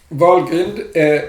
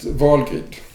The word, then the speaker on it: Helgrind: a tool for vulgate some people pronounce vulgar using english pronunciation but since it is a protection of vulgar in nordic mythology i call it volgate okay let's see what